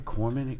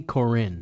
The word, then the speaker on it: Korine: Corman? I mispronounced it too. Corinne? Harmony Korine.